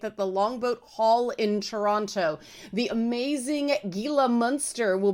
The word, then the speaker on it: Toronto: focused on enunciation that I pronounced the second T in Toronto.